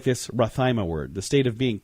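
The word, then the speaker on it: rhathymia: It is Rathaima. What do you think Rathaima means, Heidi? I have no idea. Let me spell that for you.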